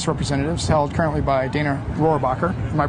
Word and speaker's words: Dana Rohrabacher: with Debbie Cook, who's running for the California 46th seat, House of Representatives, held currently by Dana Rohrabacher. Am I pronouncing that right?